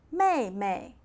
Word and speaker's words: 妹妹: Younger sister, 妹妹, 妹妹. So let's review again. Elder brother, 哥哥, 哥哥. Elder sister, 姐姐, 姐姐. Younger brother, 弟弟, 弟弟. Younger sister, 妹妹, 妹妹.